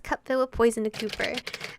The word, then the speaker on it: Cooper: Willem hands a cup filled with poison to Cooper. As long as you aren't saying my name incorrectly, it's fine. Yeah, instead of like copper.